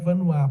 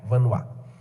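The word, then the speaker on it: Vanhoye: Como é que se escreve Vanois, padre? É uma boa pergunta. V-A-N-H-O-Y-E. V-A-N-H-O-Y-E. Vanois. É porque é francês, Albert, com um Tzinho mudo no final. Albert Vanois.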